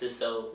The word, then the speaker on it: Cisot: And the T silent, so when you say it, it's Cisot, not Cisot, Cisot.